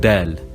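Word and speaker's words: دال: Then we have dal, and we pronounce it d, like a normal D.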